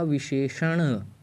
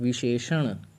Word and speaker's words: विशेषण: नहीं करेंगे इस पर यहां पर उच्चारण क्या होगा विशेषण अनाथ तुम नाथ का सहारा लेते हुए डाकुओं चारण करना है तो विश्लेषण विशेषण तो इस तरीके से हम इसका उच्चारण करेंगे तो यह उच्चारण हमें